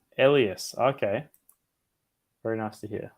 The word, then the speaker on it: Elias: had an alarm definitely Elias is pronounced with an e in like yes Elias Elias okay very nice to